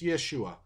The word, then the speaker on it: Yeshua: and formed it's Yeshua because in the Greek it's yesus because Greek people in their language they didn't have equivalence for the sh sound so they couldn't pronounce Yeshua the closest they come is yesus and because it's Greek